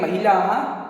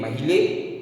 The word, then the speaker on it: महिलाः: किसी भी शब्द अथवा अक्षर के बाद लगे इस दो बिंदु को विसर्ग कहते हैं, जिसका उच्चारण ह के बराबर किया जाता है, ह के समान बोला जाता है।